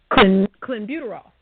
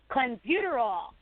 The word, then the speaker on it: clenbuterol: it JB you know how you say that clenbuterol clenbuterol okay anyway this commonly used by ranchers in